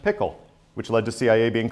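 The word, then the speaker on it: PICL: says president's intelligence checklist abbreviated P pronounced pickle which led to CIA being called The Pickle Factory for years John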